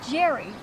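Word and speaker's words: Geri: And he doesn't spell it G-A-R-Y, he spells it G-E-R-I. That's Jerry.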